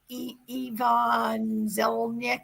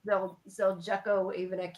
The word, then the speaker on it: Zeljko Ivanek: His name is Ivan Zelnik. I'm saying it wrong. I'm sorry. Yeah, Zeljko Ivanek.